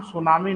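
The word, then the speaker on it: tsunami: यह जापानी, एक्चुअल में इसका नाम सुनामी नहीं है बेटा, सुन लो, इसका नाम सुनामिस है और इसकी शुरुआत टी से होती है, टी साइलेंट होता है इसमें, है ना।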